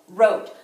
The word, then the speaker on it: wrote: a rule breaker and we've got a WR silent W bar C R he powering up the Oh wrote so if we were to tap it out we would just hear her out three sounds that's why it's a rule breaker it's got five letters but only three sounds okay let's count some